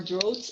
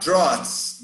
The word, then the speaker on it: drought: question about this part i'm sorry roads more droughts and wildfires ah drones droughts yeah i was looking for a different